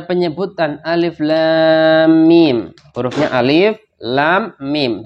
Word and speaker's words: Alif Lam Mim: Alif Lam Mim hurufnya Alif Lam Mim dibaca Alif Lam Mim Bukan dibaca ilmun Bukan dibaca alamun Bukan dibaca ya ulumun